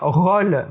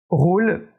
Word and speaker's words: rôle: l' homo contrôle rôle là on prononce au fermé et ont dit aux opa or on dit pas contrôler c'est pas correct on ne dit pas rolls et pas non plus correct dit contrôle dit rôle est appliqué cette règle